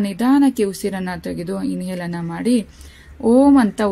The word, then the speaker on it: ಓಂ: ಇನ್ಹೇಲನ್ನು ಮಾಡಿ, ಬಿಡುವುದನ್ನು ಮಾಡಿ, ಹಾಗೆ ಎಕ್ಸೇಲನ್ನು ಮಾಡಿ, ನಂತರ ಪುನಃ ನಿಧಾನಕ್ಕೆ ಉಸಿರನ್ನು ತೆಗೆದು ಇನ್ಹೇಲನ್ನು ಮಾಡಿ ಓಂ ಅಂತ ಉಚ್ಚಾರಣೆನ ಮಾಡಿ. ನೋಡಿ ಫ್ರೆಂಡ್ಸ್, ಹೇಳ್ಕೊಡ್ತೀನಿ ಒಂದ್ಸರಿ ಅಂತ ಇನ್ಹೇಲನ್ನು ಮಾಡಿ ಓಂ ಅಂತ ಮಾಡ್ತಾ ಹೋಗಬೇಕು.